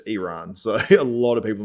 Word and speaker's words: Iran: the way I pronounced I was saying yeah Iran but it's Iran so a lot of